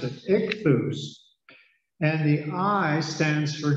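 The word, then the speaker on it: ἰχθύς: The Greek word for fish is spelled I-X-T-H, ichthus, is the word. Rather than spell, I probably should pronounce it, ichthus.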